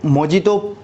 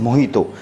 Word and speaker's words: Mojito: मोहितो, बहुत से लोग इसको मोजितो प्रोनाउंसिएशन करते हैं, MOJITO। अगर इसे नॉर्मल इंग्लिश में पढ़ूंगा तो ये मोहितो होगा, बट ये लैटिन लैंग्वेज में और क्यून वे में जे जो होता है वो H प्रोनाउंसिएशन होता है, इसलिए इसको हम पुकारते हैं मोहितो।